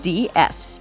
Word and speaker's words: DS: of the revolutionary Citroen DS, pronounced the same way as the French word for goddess, which received so much